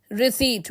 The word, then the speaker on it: receipt: Receipt is pronounced as receipt, where P remains silent.